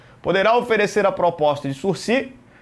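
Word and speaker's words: sursis: de sur processual e escrevemos suris a palavra é uma palavra ca não pronunciamos o s no final o Ministério Público então poderá oferecer a proposta de surc e o processo se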